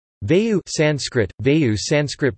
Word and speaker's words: Vāyu: Vayu Sanskrit, Vayu Sanskrit pronunciation, Aju, is a primary Hindu deity, the lord of the winds, the father of Bhima and the spiritual father of Hanuman.